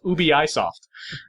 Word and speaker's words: Ubisoft: Satoru Iwata pronounced Ubisoft Ubi-isoft. Yeah.